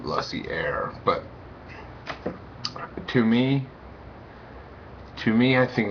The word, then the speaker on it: Lussier: I pronounce his last name Lussier, but to me, I think that he's an exceptional director.